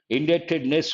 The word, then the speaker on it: indebtedness: Yes, it is B is silent, indebtedness, we say.